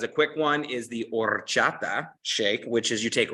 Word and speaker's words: horchata: and you have an horchata shake, and you got to roll your R's to do it right.